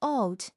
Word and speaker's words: 옷: Seven different letters at the bottom all become a stopped t. Look at this word. It has a final, but it's pronounced 옷, meaning clothes.